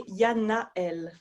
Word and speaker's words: Yanaëlle: So usually I would say Yanaëlle. So with a bit more of a in between, which is hard for people to say. Yeah, Yanaëlle.